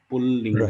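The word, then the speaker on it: पुँल्लिङ्ग: When you use Chandra, two lakaras come and you have the Chandra Bindu. Pullinga. Right. Pullinga. Okay. That is the pronunciation. Okay. The other one is Pumlinga. Pumlinga, that's all. Pumlingaha. Then no Chandra Bindu and no double lakara.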